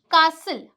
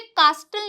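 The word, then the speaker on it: castle: जैसे कि कासल। अब इसे कास्टल नहीं बोलते हैं। ये भी बहुत से लोग गलत बोलते हैं। यहां पे जो हमारा टी है वो साइलेंट है।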